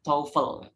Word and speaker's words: TOEFL: bilang TOEFL TOEFL TOEFL yang benar itu cara bacanya taufel software tongkol tongkol jadi